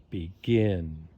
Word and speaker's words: begin: second sound in the word is stressed refer begin so for a two-syllable verb two syllables refer begin that ends